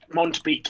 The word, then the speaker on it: Mondbeek: The D is silent sometimes. Sometimes. Okay, Mondbeck. Mondbeek, actually, yeah.